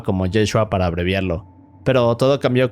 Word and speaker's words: Yeshua: Ahora, en su tiempo en arameo se pronunciaba como Yeshua para abreviarlo, pero todo cambió cuando el Nuevo Testamento fue escrito en griego.